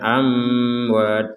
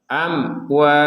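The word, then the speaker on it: أموات: Jadi kalau dibaca samar kan amwat, amwat, itu kan samar. Jadi kita harus baca dengan jelas amwat.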